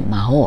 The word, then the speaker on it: 麻黄: 朝という字に黄色ね、これで魔王って読みますね。